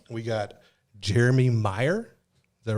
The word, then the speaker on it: Meier: got another guy too right we got jeremy meyer is that right did i pronounce it right you did oh right who